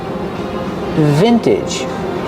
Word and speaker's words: vintage: Pronunciation, use the short I sound like this is for the first syllable. Vin, vintage. The second syllable is not stressed, so say it relaxed.